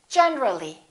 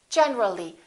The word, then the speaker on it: generally: When we add the ly, we say generally. Generally, not generally.